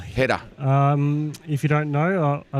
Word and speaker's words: Heta: How do you say his surname? Brandon Heta. Heta.